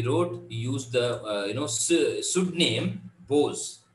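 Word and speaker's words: Boz: He wrote, he used the, pseudonym Bose, right? B-O-W, B-O-Z. So in the name, the first time he wrote. The single syllable name came from the childhood rendering of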